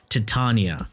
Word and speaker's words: Titania: ones this is a titania and yes that's how you properly pronounce it titania this setup is the